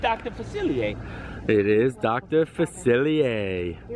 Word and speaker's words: Facilier: Facilier. It is Dr. Facilier. You were gonna see what Nate came up with. What? Were you trying to get me to pronounce it wrong? No. Dr. Felicity.